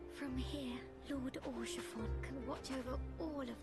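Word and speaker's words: Haurchefant: Is that for Isal, or however you pronounce her name? Oh no, it's Horsefon. From here, Lord Orshafon can watch over all of Ishgard.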